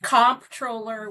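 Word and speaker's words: comptroller: they've heard it pronounced controller, comproller. Tell us what a controller does. And it's all about the bucks, right? That's absolutely right. and it is comproller with a P.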